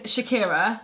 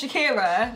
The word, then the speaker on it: Shakira: So my name is Shakira, spout S-H-A-K-I-R-A. Yes? Nice and easy. You pass. Okay. There's no E in it. It's not S-H-E-K-I-R-A. It's pronounced Shakira.